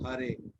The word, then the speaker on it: Hare: The word Hare pronounced as Hare, Krishna pronounced as Krishna, and Rama rhymes with Dharma are Sanskrit words.